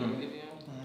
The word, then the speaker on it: Giveon: Like new, I would say Giveon or Jimmy. Is that how you say it? Giveon.